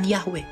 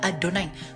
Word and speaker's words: Adonai: pun bukan pelafalannya karena orang Ibrani tidak pernah membaca tetragramaton itu dengan yahwe mereka menyebutnya adonai makanya dalam semanya orang Israel k SMA Israel adonai elohinu ad ehad ya tidak pernah yahwe elohinu yahwe ehad itu gak pernah karena itu enggak bisa